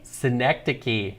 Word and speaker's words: synecdoche: Synecdoche. Yeah, That's what- correct. Is that how you pronounce it?